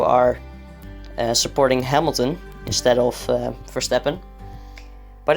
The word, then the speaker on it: Verstappen: supporting hamilton instead of verstappen but it's fine it's fine oh by the way in the netherlands we actually pronounce verstappen as verstappen which is his dutch name and his dutch pronunciation if you're wondering how